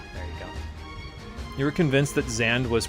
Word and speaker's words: Xande: So Xande, it still keeps that trend of having the emphasis on the first syllable, but then it's just one syllable, you know?